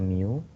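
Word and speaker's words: μ: Ada yang namanya dia mu, ya bacanya mu.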